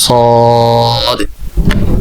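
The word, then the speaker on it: صاد: একটু মোটা করে সদ।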